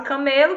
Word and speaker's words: camelo: Deserto montado nunca mesmo aqui a gente tem a palavra camelo que se refere a animal né É é mas se você disser viagem pelo Deserto montado num camelô e já é uma outra palavra e o camelô se